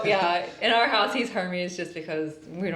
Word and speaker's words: Hermes: Also, I'm pretty sure that you're supposed to pronounce his name Hermes, and someone asked us that one time, because that's the Spanish pronunciation.